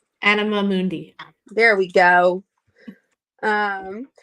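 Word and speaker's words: anima mundi: to the um how do you say it anina animamundi yeah there we go um the world Soul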